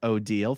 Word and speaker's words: Odile: Name pronounced Odile. Think of Deal or No Deal.